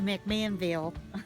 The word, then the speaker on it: McMinnville: You've got to come to McMinnville.